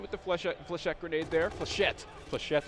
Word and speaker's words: flechette: Flechette is how you pronounce that grenade. It's French, I'm sure it is.